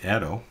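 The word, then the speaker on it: atto: with this first one here is 10us 18th pronounce Ado small a 10-5 fto small F 10- 12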